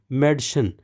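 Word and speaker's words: Mädchen: बताना चाहता हूं कि अगर तो ए के ऊपर दो डॉट्स हैं दो नुक्ते हैं अगर यह ए के ऊपर दो डॉट्स हो तो इसे हम ए अलाउड कहते हैं और यह ए नहीं होगा ये ए से डिफरेंट है इसीलिए इसको पढ़ेंगे मेडिसन मेडिसन लड़की को कहते हैं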